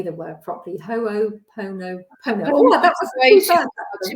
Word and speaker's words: Ho'oponopono: And Ho'oponopono really miraculously, it was really quite funny what happened.